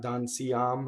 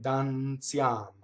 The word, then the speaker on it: Danziam: So the I is a semivowel. It's not Danziam, right? Danziam. Danziam. The N is again sings into the TZ, which is the Z.